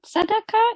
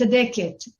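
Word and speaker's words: tzadeket: Are there any more women tzedakah? Is that how you say it? Tzedakah? Yeah, it's tzedeket. Yeah.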